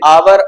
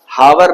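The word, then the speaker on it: hour: एज the initial consonant H इज not pronounce, H को pronounce नहीं किया जाता, हावर नहीं कहा जाता, हॉनेस्ट नहीं कहा जाता, ऑनेस्ट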